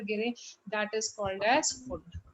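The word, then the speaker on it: Pfund: एंड कहीं से भी लैंड करें और यहाँ पर गिरे, that is called as फुंड। P is silent, फुंड series.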